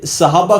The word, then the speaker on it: صحابہ: کر رہا ہوں۔ لفظ صحابہ کے اوپر آپ اس کی تحقیق سنیں۔ اچھا، یہ لفظ لوگ صحابہ بولتے ہیں، صحابہ لفظ نہیں، یہ لفظ صحابہ ہے، سواد کے نیچے زیر ہے۔ اب کئی ایسے جاہل